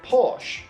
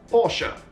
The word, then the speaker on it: Porsche: You often pronounce it Porsche, but their name should be pronounced Porsche.